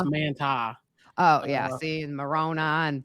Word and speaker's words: Manti: We said Manti, and it's Manti.